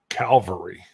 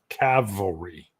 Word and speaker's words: cavalry: to have that back oh calvary yeah i know cavalry sorry always say it wrong can't can't change it it's a calf cavil cavalry i could barely do it yeah calvary is the uh the mount and cavalry are the guys on horse or bradleys so